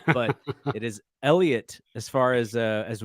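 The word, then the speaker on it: Heliot: pronounce it his name Elliot Ramos uh silent h not silent T I think I was I think I was I was hard H and Silent teeing his name but it is Elliot as far as uh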